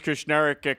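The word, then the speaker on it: Kushneriuk: I'd like to say I'm a little disappointed in Bakersfield, but here's how we spell it. It's K-U-S-H-N-E-R-I-U-K. So there you have it. Chris Kushnerek coming back to Bakersfield.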